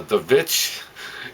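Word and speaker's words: The VVitch: I watched The Witch, or The Vitch. Yeah, it's spelled with like 2 double V's at the beginning.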